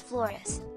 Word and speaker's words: Flores: It's Flores. Psh. My classmates always said it wrong on the first day of school.